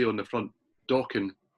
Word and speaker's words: Dokken: But it did actually say on the front, Dokken rhymes with rockin'.